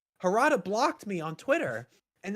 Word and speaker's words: Harada: Is that how you pronounce his name? Harada.